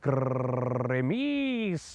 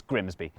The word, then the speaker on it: Grimsby: simple, but what if we told you it was pronounced Grimis? No, it's not. We'd be lying. It's Grimsby.